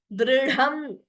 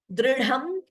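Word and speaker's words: दृढम्: Dridham. Note only dha is mahaprana. Dri is alpaprana. Dridham.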